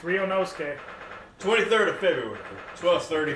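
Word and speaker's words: Ryunosuke: to a head now you can do it ryonosuke you have to ah are you nosey that's how you say it yeah all right i've been saying it's wrong it's rio nosque 23rd of february 12 30 p.m the old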